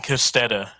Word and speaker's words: Kostedde: Edwin Kostedde. Okay. And that's who we're talking about in today's episode, Edwin Kostedde.